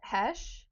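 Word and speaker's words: Heche: Ever her former partner a woman named an Hesh I think is probably how you pronounce that. H E C H E sorry girl I don't know who you are.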